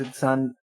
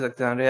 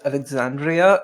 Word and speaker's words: Exandria: We're back to our land of the wonder, that is Exandria. Yeah, it is Exandria. I don't know why I was going to pronounce it as Alexandria.